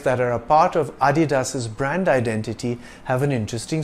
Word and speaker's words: Adidas: part of his surname it's not pronounced Adidas or Adidas it's Adidas dasler got American Sprinter